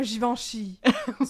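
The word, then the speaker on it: Givenchy: Ce serait c'est c'est un parfum givanchi. Ça se prononce pour vrai. Givanchi. Ouais. Ouais. OK. Je trouve ça weird de que un G qui est doux. Moi je pensais citivanchi. Non, c'est Givanchi.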